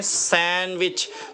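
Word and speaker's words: sandwich: आगे चलते हैं, देखते हैं सैंडविच, तो हम इसको सैंडविच पढ़ते थे, तो सैंडविच गलत है, डी साइलेंट, प्रोनाउंस नहीं हो गया, सैंडविच, क्या पढ़ेंगे, सैंडविच, सैंडविच, ओके।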